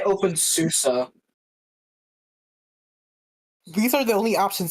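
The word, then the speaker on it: openSUSE: You didn't you didn't leave out the e, which is not silent in susi. I say open susa.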